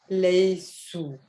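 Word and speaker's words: ليسوا: not whom the there is an extra alif at the end but it's a silent alif you don't pronounce it so you read this as leicester it means you translate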